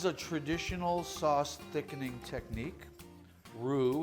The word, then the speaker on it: roux: the next phase of the sauce making a roux which is butter and flour so let's add the butter and then the flour this is a traditional sauce thickening technique roux it's spelled ro UX it's very French and